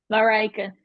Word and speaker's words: Marijke: Marjorique? Marijke. It's I tried. It's Dutch.